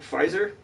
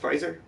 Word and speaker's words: Pfizer: like um was it pfizer is that how you say it pfizer was the p silent yeah all right these fives